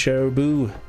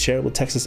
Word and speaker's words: Shareable Texas: It's Shareable Texas. By the way, guys, if you haven't checked out Shareable Texas, totally check him out on YouTube. It's exactly how it's spelled there, Shareable Texas.